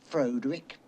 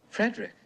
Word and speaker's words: Frederick: Do you also say Freick? No, Frederick. Well, why isn't it Freudick Frankenstein? It isn't. It's Frederick Frankenstein.